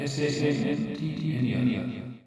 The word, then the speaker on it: Santner: It will be Santner, S-A-N-T-N-E-R, Santner, and it will be Jadega who will be facing Stanton.